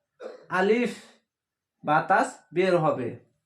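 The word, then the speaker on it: باء: আলিফ এইভাবে হবে না, আলিফ বাতাস বের হবে। আ লরিসি আর ফা। আলিফ। আলিফ বা। বায়াকার বা। বা। বা উচ্চারণ হবে, মুখ প্রথমে বন্ধ রাখবেন, বা মুখ খুলে দিবেন, বা উচ্চারণ হয়ে যাবে।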